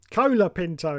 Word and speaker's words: Colapinto: you will see that his name says c o l o Pinto when it is actually Cola Cola Pinto if you say it like that colapinto anyway here's the problem